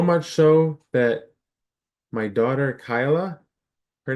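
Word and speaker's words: Kaila: so that my daughter Kyla her name is k a i l a pronounced Kyla she's called Kayla by half the people she knows now they know it's Kyla but they call her Kayla they spell her name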